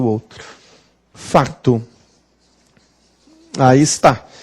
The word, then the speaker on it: facto: gente fez o outro facto A Taís tá então este se é mudo ele desapareceu aqui nós vamos dizer fato foi por isso que